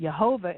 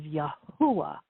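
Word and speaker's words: Yahweh: the Hebrew language and even if you put the yud in which is the y s it makes it yahovah it's still not accurate so the name the true pronunciation of the god of Israel is yahwa and um I found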